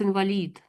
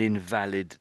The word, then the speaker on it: invalid: It's pronounced invalid. Yes, that's it. Yes. So, it's the vowel sound here changes from which one you're saying. So, if so, I might have an invalid ticket to get into a football match.